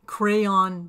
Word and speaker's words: Craiyon: our disposal this video takes a look at crayon docomo is spelled c r a i yo n.